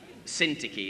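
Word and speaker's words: Syntyche: uodia and soon touchy actually syntiki is how you pronounce it i plead with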